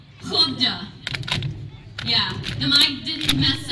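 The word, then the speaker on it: Skövde: really what it's called HDA try to say that and it's spelled s k oov D E I said it scob day for months before I went but in we went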